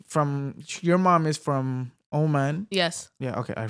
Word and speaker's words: Oman: Um they they from your mom is from Omen. Yes. Yeah. Okay. I said it right. Right. Sorry. Uh Omen.